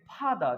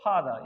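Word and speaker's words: father: जैसे मेरे जान देखो यहाँ पर फादर लिखा हुआ है, तो फर्स्ट स्थान छोड़कर आर कभी भी आ जाएगा, नहीं के बराबर बोलेंगे फादर, क्या बोलेंगे इसको, फादर, याद रखिएगा।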